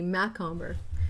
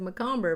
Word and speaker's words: Macomber: Today we are here talking about Must Love Flowers by Debbie Macomber. Now for years and years and years I've been saying her name wrong. I always said Macomber, but it's Macomber.